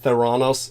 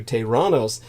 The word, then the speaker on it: Theranos: That would be, everybody said Theranos. The correct Greek pronunciation would have been something closer to Tyrannos.